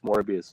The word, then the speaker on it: Morbius: seen morbius either but Tom says morbius is glorious so that's why I asked it right because it rhymes with glorious yeah I know I